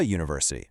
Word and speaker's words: university: We say a university. Why? Because when you say it out loud, the pronunciation actually starts with a u sound, which is a consonant sound.